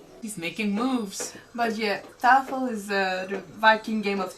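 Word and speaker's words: Tafl: A game of Tafel. Of what? Sorry, I said it wrong. Tafel.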